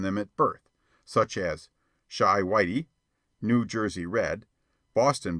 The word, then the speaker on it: Chi: boy and printer bow Chi pronounced shy by the way is the argot for Chicago a favorite device of